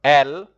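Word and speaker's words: elles: then you have they which is uh L also the e s is not pronounced so here we go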